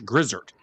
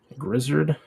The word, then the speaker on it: Grizzard: But people literally keep calling him Josh Griard. Grizzard. Grizzard.